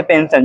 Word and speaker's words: पेंशन: होती है ना, ऐसे पेंशन, जो पेंशन दी जाती है। ठीक है, तो यहाँ भी क्या पढ़ेंगे, आप स पढ़ेंगे, तो हो जाएगा पेंशन।